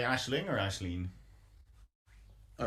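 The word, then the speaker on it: Aisling: Would be more the sort of the name, how people would pronounce it, Ashleen.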